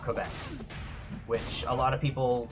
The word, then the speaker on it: Quebec: sauce MCCS Ezio Ryan I watch it from Kubek thank you thankful sauce it's actually pronounced a Quebec no no it's all good dude it's um